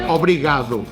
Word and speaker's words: obrigado: that's not thank you how do you say thank you Obrigado if you're a male nobody got if you're